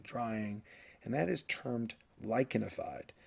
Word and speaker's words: lichenified: and that is termed lichenified. The CH here is pronounced like a K, lichenified.